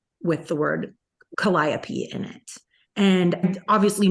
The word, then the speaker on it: Calliope: it was aside from something Calliope and pronouncing it caliope and everyone kind of like correcting me so there are definitely